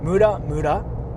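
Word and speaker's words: ムラムラ: careful of the pronunciation mura mura mura mura is horny muda muda is useless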